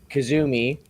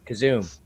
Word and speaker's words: Kazoom: he first joined my panel, or I asked him, and he says, "Well, you know, people say Kazumi, but it is pronounced Kazoom."